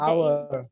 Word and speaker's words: hour: 1 hour. Ya, our yang our home, rumah kita dengan our menunjukkan waktu itu sama pengucapannya ya.